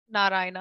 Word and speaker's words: Narayana: so the word in Sanskrit there is no syllable stress so the name of our let's take a let's take a narayana ayurveda anybody want to say that for me